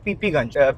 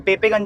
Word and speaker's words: पीपीगंज: तो आप लोग डालना पीपीगंज, PEPEGANG, पीपीगंज करके, पेपेगंज जो है वैसे इसकी प्रोनाउंसिएशन, मतलब अगर आप देखोगे तो, बट एक्चुअली पीपीगंज बोलते हैं।